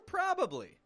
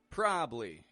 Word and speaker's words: probably: the word probably or probably sometimes we drop a syllable right out of there probably probably I'll probably make it probably make it other times we stretch each syllable out more probably I'll probably make